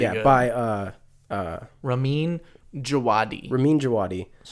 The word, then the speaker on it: Ramin Djawadi: Ramin Djawadi.